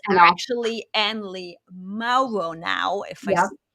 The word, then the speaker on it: Mauro: used to anley shake but it's actually anley Maro now if I pronounce that the German accent and you Maro